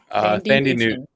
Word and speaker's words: Thandie Newton: Thandie Newton. Yeah. Okay. There you go. That's how you pronounce it.